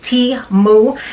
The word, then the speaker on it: Temu: a sponsored video from temu it's pronounced T moo and they are a